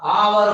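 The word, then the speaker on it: hour: Note करके लिख लीजिए कि यदि किसी भी वर्ड में ओ के पहले यदि एच आया हो तो एच का प्रोनाउंसिएशन नहीं होता है, एच साइलेंट होता है। तो यहां पर क्या होगा, आवर होगा।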